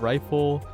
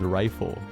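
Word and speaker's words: Ryful: So it's even more confusing because I used to be deep in the Maiden and Spell community, and there's someone named Rifle, but it's spelled R-Y-F-U-L.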